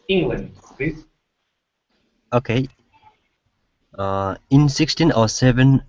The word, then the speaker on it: England: that n okay so instead of saying England okay it's England England try that England there you go good